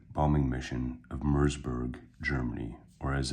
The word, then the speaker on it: Merseburg: grand conducted a second B bombing mission of mburg Germany or as it's more properly pronounced moror that's correct moror so as a reminder where morberg where mburg